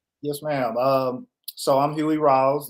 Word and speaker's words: Rawls: So I'm Huey Rawls. You did say it right, like Lou Rawls.